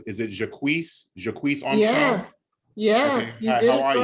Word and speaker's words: Jacquees Armstrong: But I'm going to go ahead and call and let me know if I'm pronouncing this right. Is it Jacquees Armstrong?